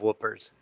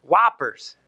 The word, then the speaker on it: Whoppers: wofford I never say I never heard of whoopers the little chocolate balls with the malt whoppers whoppers whoppers what is it guys how do